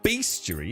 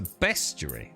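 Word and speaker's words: bestiary: even though they shouldn't CU it's not a beast JY is it it's a best JY is it is it pronounced beasty uh these B animals love to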